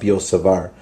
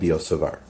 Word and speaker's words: Biot-Savart: the law of biot-savart i don't think you pronounce the T actually it's the law of biot-savart or the magnetic field